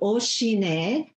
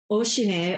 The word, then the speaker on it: Ocinet: It's called Oshine, which means the O family. Oshine, although they spell it in a weird way, O-C-I-N-E-T, Oshine kimchi, and they make the